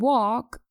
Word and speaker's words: walk: and should talk and walk are pronounced correctly without the consonant L we say talk and walk and not tulké and walk remember to drop the L let's listen to an